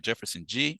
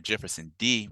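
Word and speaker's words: Jefferson Dê: men who are brothers in the struggle like Jefferson G or Jefferson D I come to understand that's how you pronounce his name one of Brazil's top black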